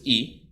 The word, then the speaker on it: y: saying Tyrese is that the letter y in Spanish which is pronounced e is equal to the